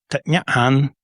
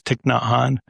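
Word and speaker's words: Thích Nhất Hạnh: And it's Thich Nhat Hanh in Vietnamese, but everybody around here says Thich Nhat Hanh. Some people say Thich Nhat Hanh, but it's not, but he's Vietnamese.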